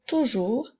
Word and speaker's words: toujours: mot toujours le mot toujours a également une lettre muette retiens le bien le mot toujours s'écrit toujours avec un S alors retiens-le nous en